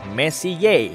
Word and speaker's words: Messier: Diucapkan Messier, bukan Messier, yang artinya lebih berantakan.